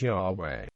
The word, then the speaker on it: Yahweh: the Christian Church testify that the name was pronounced Yahweh prominent religious leaders have agreed that Yahweh cannot